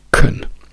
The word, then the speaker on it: can: Quello importante è swim, quindi anche can ridotto a K, quindi I can swim, can I can swim.